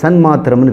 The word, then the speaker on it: சன்மாத்திரம்: மாத்திரம் தானே இருந்தீங்க அது சன்மாத்திரம்னு பேரு அது என்ன சார் அப்ப மட்டும் சன்னுங்கிறீங்க சத்மாத்திரம்னு சொல்ல முடியாது உச்சரிப்பு அதனால சன்மாத்திரம் அப்ப சன்மாத்திரமா இருக்கிறதுன்னா அது